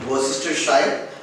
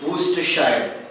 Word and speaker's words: Worcestershire: So it should be pronounced by removing this RSE, like Worcestershire. It is incorrectly pronounced as Worcestershire, but the correct pronunciation is Worcestershire. You should concentrate on the word W-O much.